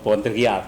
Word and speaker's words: Baudrillard: Filsuf Prancis sering disebut sebagai nabinya orang postmo, jadi yang Baudrillard gitu. Kalau itu, kalau cara baca Prancisnya gitu, tulisannya Jean Baudrillard gitu.